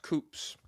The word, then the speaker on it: coups: It's pronounced it's pronounced coups.